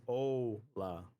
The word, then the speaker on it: hola: By the way, using the wrong O It's a ola.